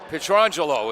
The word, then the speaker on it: Petrangelo: Petrangelo is how you pronounce the regular quarterback.